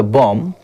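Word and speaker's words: bomb: अ कार अब देखिए बी ओ एम बम पढ़ते हैं इसको जो बी है वो साइलेंट है ठीक है साइलेंट रहेगा क्योंकि इसके ठीक पहले एम आया है ठीक है तो जब एम आता है पहले उसके बाद बी आता है तो बी साइलेंट रहता है ऐसे कई सारे वर्ड्स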